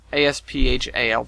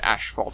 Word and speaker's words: asphalt: their neighboring ashphalt streets asphalt asph alt the it's not there's no ash in there people pronounce it ashphalt in their wrong it's asphalt anyways so I started